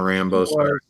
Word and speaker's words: Rambeau: he one of John Rambo's no it's Rambo like like French yeah it's spelled with like a Louisiana sort of sweats yes French bridge yeah